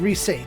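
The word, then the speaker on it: Riese: Reese? Oh. Altice and Reese. I've been saying it wrong forever. Whatever. It's German for giant.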